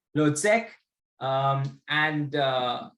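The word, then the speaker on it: Hložek: to pronounce that name i think it's h-l-o-z-e-k so i would say lord sec um and uh it's it would be exciting to see what floyd edwards and lotsek are you know playing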